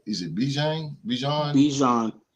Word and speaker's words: Bijan: B is it BJ Bijan like Dijon mustard but with a B Dijon mustard wow okay